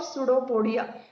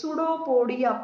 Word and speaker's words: Pseudopodia: Amoeba moves forward and forward with the help of pseudopodia. Amoeba has false legs. Pseudopodia. P is silent.